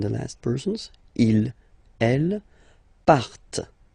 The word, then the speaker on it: partent: And the last persons, il, elle, partent. Remember, classic ending, E-N-T, but then you don't pronounce them, partent, partent, okay?